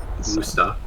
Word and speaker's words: Worcester: Wusta.